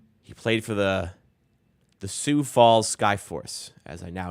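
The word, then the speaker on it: Sioux Falls: of Malik Williams he played for the The soue Falls Sky Force as I now know it's pronounced in the G League got signed in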